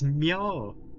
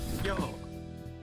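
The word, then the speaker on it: Myo: I hear that name even if I press skip while I'm speed running, I hear it pronounced correctly. It's Meow. M- Meow.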